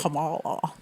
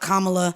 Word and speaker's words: Kamala: But if we're talking about Kamala, which guys, if you guys ever don't know how to say her name, say comma. Like commas and then la. It's that easy. Kamala.